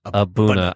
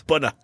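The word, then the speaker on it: A'bunadh: Aberlour Abuna. I'm impressed that I've freaking said it right more than once. Abuna.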